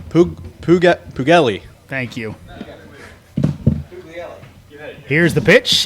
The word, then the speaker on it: Puglielli: I believe I got that pronunciation wrong. What is it, Joe? Pugelli.